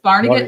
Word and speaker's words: Barnegat: he just taught me how to say this barnegat new jersey oh okay and he said he's